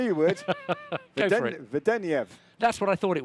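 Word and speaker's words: Vedeneyev: Vedeniev.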